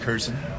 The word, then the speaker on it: Curzon: um all right so my first name is kurzen pronounced Curzon c-u-r-z or z-o-n yeah it's a strange